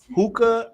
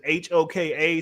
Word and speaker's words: HOKA: not, says from brands like UGG, Hookah, or which is HOKA. So I'm probably saying it wrong. Oh Hoka, yeah, yeah.